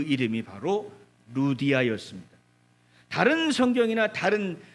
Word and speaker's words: 루디아: 여성입니다 그 이름이 바로 루디아 이었습니다 다른 성경이나 다른 어 그 개털 여기는 다른 글에서는 루디아 를 어떻게도 발음을 하는 걸 리디아 이렇게도 바라보라 루디아 리디아 같은 쪽으로 이해를 할 수가